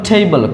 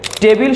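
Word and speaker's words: table: তারপর টেবল, কমফোর্টেবল, যার অর্থ হচ্ছে আরামদায়ক। এবারে আমরা যেটাকে টেবিল শিখে এসেছি, এইটার কারেক্ট প্রনাউন্সিয়েশন হবে টেবল, এরকম টেবল।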